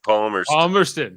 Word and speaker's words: Palmerston: Oh, Palmerston? Is that how you pronounce it? Yes, Lord Palmerston.